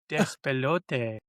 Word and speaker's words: Despelote: Despelote, and Dispatch. I was gonna say, go ahead, say that. Say that. I did, and I said it right too. Despelote.